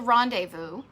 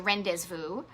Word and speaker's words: Rendezvous: tiki bar in Kenosha it's called the rendezvous or as I would mispronounce it for humorous sake the Ren des fous but that's only been